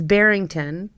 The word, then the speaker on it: Barryngton: And uh his name is spelled it's Bington, but it's spelled B A R R Y N G T O N.